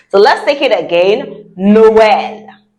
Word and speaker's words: Noël: Noël. Noël. Very good. Noël means Christmas. Right. And if I want to say Merry Christmas, I would say Joyeux Noël. Say that after me. Joyeux Noël.